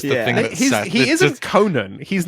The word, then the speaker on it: Conan: I'm sure that my Midwestern accent is just taking the A out of there.